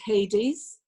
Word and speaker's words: Hades: I pronounce it Hades.